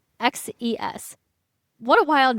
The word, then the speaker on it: Xerxes: I was always so confused by how you say this, but it's Xerxes.